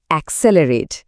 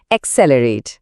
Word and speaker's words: accelerate: মাঝখানের সি এল এই অংশটায় একটু জোর পড়ছে।